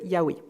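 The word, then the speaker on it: Yahvé: révèle à Moïse donc on dit yaoi Jéhovah mais en fait on sait pas trop les Témoins de Jéhovah tiennent à cette appellation comme l'unique non valable pour Dieu mais il semblerait que la prononciation correcte se rapprocherait davantage de Yahoo pour les Juifs ce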